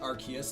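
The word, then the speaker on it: Arceus: The way you're saying it is already correct. Archus. It's referenced by Sil Valley's ability RKS system and in Legends Archus. It's not an RS phone, it's an arc phone.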